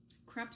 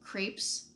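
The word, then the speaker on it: crêpe: crepes Suzette and yes the pronunciation is CREP this was another very embarrassing culinary school moment for me when I called them crepes Suzette and I got annihilated I got told there are no drapes like no crepes are not like drapes you do not pronounce them as such it's crap so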